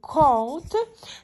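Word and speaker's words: kąt: Наприклад, якщо ми маємо слово кут, так, польською кот, то подивіться, і маємо слово, наприклад, дуб, домб, так, ось так.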